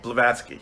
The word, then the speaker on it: Blavatsky: I can see what wait say it again Blavatsky Blavatsky is saying by that because it does